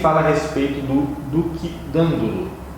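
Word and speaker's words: Dandolo: Nele fala a respeito do Duque Dandulo. Acredito que seja Dandulo, pela pronúncia proparoxítona do italiano.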